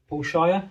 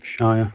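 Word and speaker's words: Shier: I've got my blueprint uh Paul Shire. Oh, that's how you say it. Shia. Shia is it?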